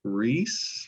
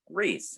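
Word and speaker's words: Rhys: new gods by gruff reese rice i'm not sure exactly how r-h-y-s i don't know how you say it reese yeah ref reese uh yes he was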